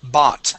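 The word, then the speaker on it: bought: this word here is bot so the o u g makes an uh makes an a sound bot bot good one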